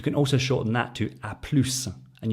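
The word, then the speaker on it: à plus: also shorten that to aplus and you notice here we pronounce the s in aplus but you don't pronounce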